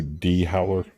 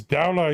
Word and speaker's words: Dowler: People would call you D Howler, Oh yeah. and you're like, it's Dowler, you son of a bitch.